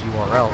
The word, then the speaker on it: URL: agony it kind of makes you want to Earl except that's properly pronounced URL so joke doesn't really work but I'll let